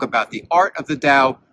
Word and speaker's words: Tao: to talk about the dao what is the dao well it's spelled t-a-o and it's one of